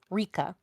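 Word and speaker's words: Rieka: Her her name is spelled R I E K A, but it's pronounced RA.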